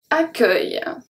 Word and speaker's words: accueil: So it's a bit like you say ac, and then œil, like your eye, accueil, okay?